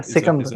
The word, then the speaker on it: Sikandar: Alexander the Great or Iskandar. If I'm pronouncing it, it might be a Persian pronunciation. Sorry, or Sikandar. I think maybe Yeah, Sikandar. Yeah, that's it. That's it.